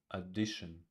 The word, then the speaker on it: addition: Addition, addition. First syllable is unstressed.